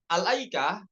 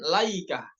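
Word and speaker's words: الأيكة: kita ingin memulai kata alaikah pada Surah asyuara dan surah sad ya yang sesuai ada di kitab ini itu dengan dibacanya dengan Hamzah yaitu Al aikah bukan laikah ya Masyaallah kita ini sangat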